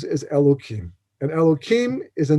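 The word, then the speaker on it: אלהים: One of those names that we're familiar with is the name Elokim, except it has a hey. We don't pronounce the hey as a kuf instead, because in deference to the holiness of God's name, Yud Kei Vav Kei, God's tetragrammaton name, we don't pronounce at all. Not today, because we're not holy enough.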